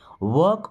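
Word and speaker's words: walk: वॉक ऑन टिप टॉय, देखिए एल यहाँ पे साइलेंट होगा।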